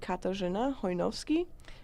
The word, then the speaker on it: Katarzyna Hojnowski: Well, in Polish, my name would be Katarzyna Hojnowski, but for the sake of simplicity, I go by Katherine.